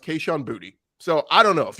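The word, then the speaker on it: Boutte: exactly the same way b-o-u-t-t-e everybody said k-shawn boutique boote he said this week talking with reporters it's booty he said it's pronounced keishan booty so i don't know if you want to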